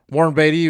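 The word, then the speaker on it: Warren Beatty: it in there um Warren batty was the one who played di Dick Tracy right or did I say it wrong because I always r no you said it great actually got it right but I guess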